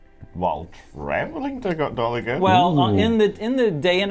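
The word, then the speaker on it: Dolagen: But it's pronounced quickly, Dolagan.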